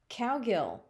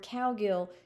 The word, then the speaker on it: Cowgill: it's pronounced cow and the second syllable of my name is gill you know like how a fish breathes so it literally is